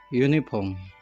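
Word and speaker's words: uniform: यूनिफॉर्म तो यू से शुरू हो रहा है, इसका मतलब वोवेल से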